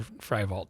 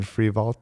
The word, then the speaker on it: Frievalt: And the way it's spelled, it should be Frievalt. I'm like, well, there you go. It should have been Frievalt the whole time.